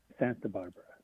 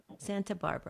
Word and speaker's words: Santa Barbara: How do you actually pronounce your city? Santa Barbara. Santa Barbara.